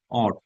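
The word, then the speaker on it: ought: এটাই করা উচিত তোমার এখন পড়াশোনা করা উচিত অট অটু উচ্চারণটি অট অট ও ইউজি এইচ অথবা এইচটি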